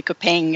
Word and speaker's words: kopeng: I mean, you would almost say it like that with a southern French accent, and so you can hear the G, the Kopeng at the end.